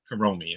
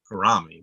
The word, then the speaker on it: Kuromi: No, Kuromi. I was going to say Kurami, but okay, so that's also could be my accent.